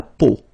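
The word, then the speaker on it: peau: three vowels combined together, it's the sound o. Okay, so really simple o. Okay, so you get la. Okay, la po. That's it.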